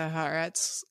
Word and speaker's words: Haaretz: The Haaretz live blog says that Netanyahu is set to give an address to the Israeli public on Wednesday evening, so shortly.